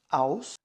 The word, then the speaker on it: aus: então nós temos aí o aus e se escreve a u s então nós pronunciamos o u como ele deve ser mas também nas aulas